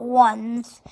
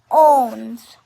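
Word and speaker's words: onze: i x these and 11 is not one is not ones it's owns and 12 is dues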